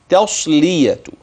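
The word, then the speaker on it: تصلية: وتصل وتصل وتصل جحيم ننتبه لايه فيها للتاء في قوله وتسيه جحيم تاء بس لا ما هو انت انتبه تاء وما بعدها اللي بعدها ايه الصاد ليه لان التاء ترقق والصاد تفخم فلا تطغى الصاد على التاء او العكس بالعكس فيتابرون التاء الى حرف اخر او تتحول الصاد الى حرف اخر اذا المطلوب في القراءه والتنبيه عليه هو ان ننتبه للتاء تصبح تاء والصا والصا والصا الساكنه هي بنطقها صادا ساكنه تص تصليه جميل اما اقراها بقى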